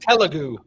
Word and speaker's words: Telugu: Um, Ana, Ana, Ana, Telugu. Oh, god. Uh, oh, God. Telugu. Tug. There we go. I'm putting the wrong wrong annunciation on the wrong syllable.